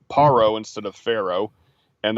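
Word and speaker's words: פרעה: the modern hebrew it's paro instead of pharaoh and that actually corresponds with the egyptian pronunciation is a pa instead of a fa um mitzrayim is later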